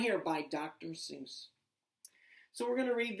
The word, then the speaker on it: Seuss: And it is written by someone whose name starts with Doctor and last name rhymes with Moose. Okay, you guessed it. Dr. Seuss.